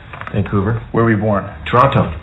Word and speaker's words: Toronto: where were we born toronto toronto canadians don't pronounce the t some comate guard is